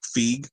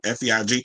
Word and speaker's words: Feig: So, because I was like, where's the other thing with the Paul Feig, I think is how you say it, Feig.